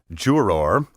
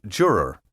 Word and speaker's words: juror: In the courtroom, pompous lawyers and judges often pronounce these words juror, vendor, and defendant, and many members of the laity are now imitating them.